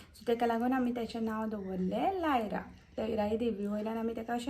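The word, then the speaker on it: Laira: केले माझ्या बाईचे नाव लायरा लायरा Narvekar लायरा spelling अ एल ए आय आर ए लायरा क्चुली ते लयरा सुद्धा प्रोनान्स करता आम्ही लायरा म्हणता सो ते आम्ही नाव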